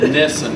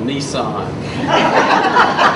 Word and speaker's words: Nissen: If you don't learn anything else, I want to teach you the correct pronunciation and name of the procedure. It's called a Nissen. It's N-I-S-S-E-N. People down here call it a Nissan.